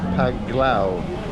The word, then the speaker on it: Panglao: I'm here at the moment, a place called by J Park Island Resort, Panglao. I keep getting that wrong. It's actually pronounced Panglao.